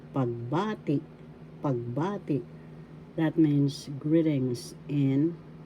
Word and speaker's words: pagbati: Pag, ba, ti. First syllable pag, second syllable ba, third syllable ti. The second syllable has the accent pagbati.